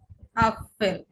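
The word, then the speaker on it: Apfel: যেমন আমরা ইংলিশে এ এ উচ্চারণ করি, কিন্তু ডয়েসের ক্ষেত্রে হচ্ছে এটাকে আমরা উচ্চারণ করব। আমাদের এখন ভুলে যেতে হবে যে এ বলে কিছু আছে, আমাদের মাথায় রাখতে হবে এটা হচ্ছে আ। যেমন এখানে আছে আপেল, এই যে আ, আপেল, আপেল।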